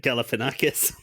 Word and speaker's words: Galifianakis: But he pronounces it Galifianakis.